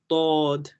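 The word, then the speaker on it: ضاد: I'm trying to remember how they taught us to say this letter, but it's like Dod, so it's Dod, Dod. Even though it's spelled dad, it's not dad. It's Dod.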